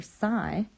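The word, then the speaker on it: psi: water potential equation this symbol right here sigh that's how you say it's I like sign that means water potential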